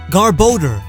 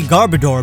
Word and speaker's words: Garbodor: Garbodor. Garbage and odor, so it makes absolute sense. I used to say Garbodor back when I was unenlightened.